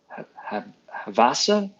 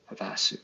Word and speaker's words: Havasu: Um, Stephanie says we have a beautiful Christmas village here in Lake Havasa, Havosu. I'm so Havasu City.